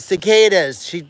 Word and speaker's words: cicada: Cicadas. Heather told me how to pronounce it.